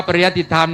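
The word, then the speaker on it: ปริยัติธรรม: จังหวัด เชียงใหม่ นะ ครับ อ่าน ว่า พระ ปริยติธรรม นั้น จะ มี อยู่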